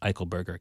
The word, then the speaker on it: Eichelberger: And my last name was Eichelberger. Eichelberger.